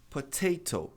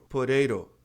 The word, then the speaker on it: potato: Potato. Essa é a pronúncia do britânico. Potato. Tá? Veja que curioso. A tônica está no ta.